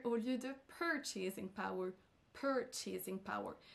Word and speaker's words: purchasing power: lieu de purchasing power purchasing power c'est sur la première syllabe qu'on accentuera donc et non sur la dernière s'accentue sur la deè